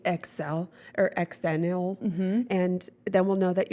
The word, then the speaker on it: Xennial: If you were in that special 6 years, you are, cheers, Xennial. Xennials. Xennials, what I like to say. Xennial. Eggs. The X is See? the X, but you say it with a Z.